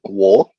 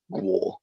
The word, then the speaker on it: Gwar: There is a band called Gwar. I found out the actual Whoa, way what a to great pronounce it, band. and it is literally Gwar. I originally thought it was G War.